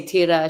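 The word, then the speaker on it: Tyra: this Swedish kid, um, you spell it t y r a. We just call her t because whenever we say tira, she's like, you can't say it right. It sounds too American. So, are you, are you not rolling your R enough?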